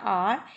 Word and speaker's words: hour: But when we are talking about a R, here H is silent, but the sound which comes out, that is of vowel.